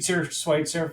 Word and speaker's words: Schweitzer: We've been saying his name wrong for years, apparently, Jason. It's Schweitzer from Gage.